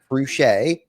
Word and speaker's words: Fruge': So, Matt Ruchcher, boom, you got it.